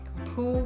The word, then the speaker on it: Pooh: Pooh, by the way, is pronounced sort of like poo, but without so much ooh, like the sound you make when blowing a bug off your arm on a hot summer day.